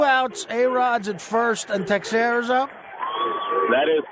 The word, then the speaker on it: Teixeira: First of all, I believe it's pronounced Teixeira.